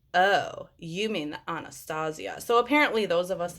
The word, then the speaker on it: Anastasia: like oh you mean anastasia so apparently those of us in the makeup world you know like we're all fancy and whatever so we pronounce it anastasia you know just in